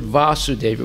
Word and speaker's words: Vasudeva: So the word Vasudeva with a long A is referring to Krishna.